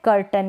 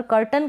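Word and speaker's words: curtain: Next है कर्टन। क्या है? कर्टन। यहाँ पर कर्टन का मतलब है पर्दा, कर्टेन बोलते हैं, वो इसका करेक्ट प्रोनाउंसिएशन नहीं है, करेक्ट है कर्टन।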